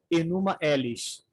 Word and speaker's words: Enuma Elish: a deusa dragão, ou Enuma Elish. Enuma, como se escreve, Elish igual Billy Elish.